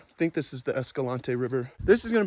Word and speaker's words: Escalante: I say the word Escalante or Escalante Escalante was a Spanish guy okay but the locals say escalent and to me it seems like it should be Escalante that's a Spanish word I think that's how